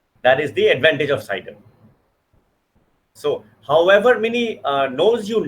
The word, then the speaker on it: CIDR: It is not a specific class, and by this according to this method, the CIDR, that's how it's pronounced, CIDR, according to the classless method, there are no longer any definitions of class.